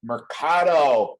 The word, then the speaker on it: Mercado: ladies and gentlemen angel mercado rhymes with avocado of the covergirl rhymes